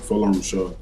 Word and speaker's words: Folorunso: So my parents are from Nigeria, and my full name is Folorunso, or Folorunso, which is how we pronounce it in our native tongue.